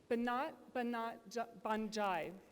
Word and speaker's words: Banat Banjai: Banat Banjai. And I did confirm with Deepti that I am pronouncing that correctly.